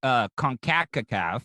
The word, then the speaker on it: CONCACAF: So they had UEFA, and then they just had the American one, which is CONCACAF, which is really That's how you pronounce it. I always wonder how you said that. Yeah, CONCACAF.